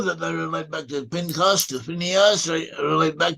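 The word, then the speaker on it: פִּנְחָס: Phineas in Hebrew is pronounced Pinchas.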